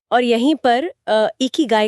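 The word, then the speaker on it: 生き甲斐: इकी गाय इसका उच्चारण है एक इगा गाय।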